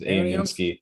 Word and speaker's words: AeoniumSky: And someone came back and was like, aeoniumsky. AeoniumSky is how it's pronounced.